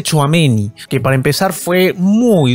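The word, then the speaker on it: Tchouaméni: Real Madrid es ameni Ya sé cómo se pronuncia todo este tiempo le decía choamén Nicho amení pero se dice choameni que para empezar fue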